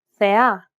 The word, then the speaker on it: θεά: This accent just indicates that you need to stress the syllable. That's it. Κάλος, καλός. Νόμος, νομός. Θέα, θεά. Notice how the accented syllables are emphasized? It's pronounced a little bit louder and longer than the surrounding syllables.